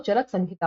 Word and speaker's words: चरक संहिता: अंतर हो जाता है यहां पे एम लिखा हुआ है बट वो इसका जो उच्चारण होगा वो चरक संहिता होगा तो इनको फादर ऑफ